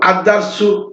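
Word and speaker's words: الدرس: তো এখানে দেখেন আলিফ, ওই এখানে এই যে দাল, লামটা, এই আলিফ লামের এই লামটা এখানে উচ্চারণ হবে না।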